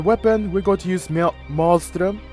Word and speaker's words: Malström: For the weapon, we're going to use Malström, because that's how the weapons is pronounced and stuff like that in Norway as well.